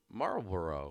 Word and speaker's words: Marlboro: even pronounce it but it's like marble row yeah there you go no it just doesn't roll off the tongue syllables yeah marlborough all right i'm done